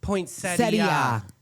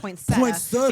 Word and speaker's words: poinsettia: started talking and saying poinsettia. Well, tell us I've always been poinsetta. It's traditionally pronounced poinsetta because the person it was named after was poinsett.